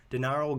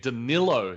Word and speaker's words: Danilo: on to number nine we got dinaro garnari thoughts on him hey you said it wrong there nick danilo daniel come for everyone